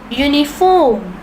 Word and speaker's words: uniform: The following words begin with vowel letters but are pronounced with consonant sounds. They thereby take a before them. They take a before them. For example, a university, a uniform, a European.